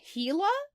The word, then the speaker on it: Gila: learn one thing listeners it's pronounced heila monster why is that g there sometimes languages stop [